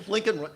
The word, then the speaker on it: Blinken: Well, Blinken does rhyme with Lincoln.